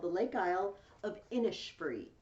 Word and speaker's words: Innisfree: The second poem I'm giving you is called The Lake Isle of Innisfree. It says Innisfree, but apparently they pronounce it Innisfree. I learned this from listening to Celtic Woman.